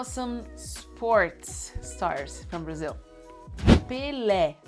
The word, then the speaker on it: Pelé: Pelé, because of the accent you have é.